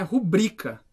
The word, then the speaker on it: rubrica: pode porque não dá é uma paroxítona né e o assenta assim a sílaba tônica nubri então é rubrika a palavra República Não